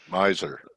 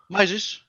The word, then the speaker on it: Mises: Yeah, Mises, yes. Right? Yes. Miser. No, Mises. You said it right.